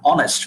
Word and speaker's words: honest: you're skipping h you're skipping the h you're keeping the h silent and you're saying an honest right led in case